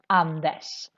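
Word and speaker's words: Anders: Andesh is this Swedish name, but RS always makes this sh sound in Swedish. So that's why again we say vi hörs, Andesh.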